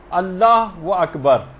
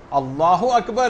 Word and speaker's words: اللہ اکبر: مثلا اللہ و اکبر، اللہ اکبر ہے، اللہ و اکبر نہیں.